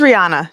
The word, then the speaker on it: Reijuana: It's just Reijuana, just like the singer. So like, just ignore the J and then it makes a little bit more sense.